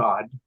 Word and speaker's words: Odd: So I met her husband, Odd. which is spelled ODD.